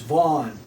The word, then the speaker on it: Van: so people are just dense that way it's Vaughn remember too I explained intentionally say ignored me